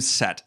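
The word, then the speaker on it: Cett: have an army from Set. It's spelled C-E-T-T in the book, but I put it S-E-T on the board because my dyslexic ass needs to be reminded how to pronounce it.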